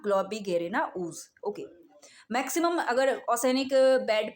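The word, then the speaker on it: Globigerina ooze: इसका प्रोनाउंसिएशन एक बार फिर वापस देख लेते हैं। इसको बोलते हैं ग्लोबिगेरिना ऊज, ओके। ऊज इसको अलग कर लेना, ग्लोबिगेरिना ऊज, ओके।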